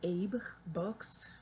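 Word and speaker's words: AbeBooks: It's called Abe Books, like Abe, like the Lincoln kind.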